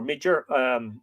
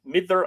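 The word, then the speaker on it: Midir: In a poem in the book of the Dun Cow, Mither, M-I-D-I or Midger, Mither, I think apparently is the more correct Middle Irish pronunciation, a noted fairy chief,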